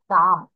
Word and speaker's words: calm: তারপর এটা প্রোনাউন্সিয়েশন হবে কাম, CALM, এল এর উচ্চারণ করবে না, শুধু CAM উচ্চারণ করবে।